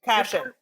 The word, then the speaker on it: Kashian: Yes, you would certainly listen to an interview because I named it Staycation in the hopes that people would pronounce Kashian. Would pronounce my name right.